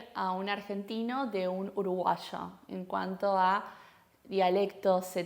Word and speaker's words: uruguayo: No decimos uruguayo, sino uruguayo.